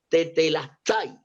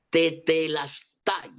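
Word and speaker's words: τετέλεσται: que entienden dicen que esa palabra se pronuncia de la siguiente manera: tetelastai, tetelastai.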